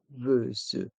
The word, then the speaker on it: serveuse: dans le mot sererveuse le S se prononce Z Z car il est entre deux voyell ici entre les voyelles U et E c'est serveuse le serveur la serveuse